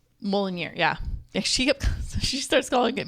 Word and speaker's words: Mjolnir: And then it goes into the whole, where's, was it Molinar? I never say it right. Molinar, the hammer? Mjolnir, yeah.